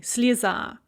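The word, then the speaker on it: слеза: we have the word slizzah a tear and in the nominative singular the stress is on the ah and so that yeah there is pronounced as an e slisa but then you put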